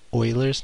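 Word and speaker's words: Euler: Call it Oilers's number. So that's spelled totally not how it sounds. Spelled E L E R.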